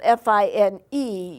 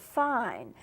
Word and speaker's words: fine: It's spelled F-I-N-E. You would be tempted to pronounce it fine, but in music it's pronounced fine.